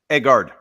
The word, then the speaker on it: Egard: He is the CEO of, I think I pronounce it Egard. Is it Egard or is it Egard? Egard.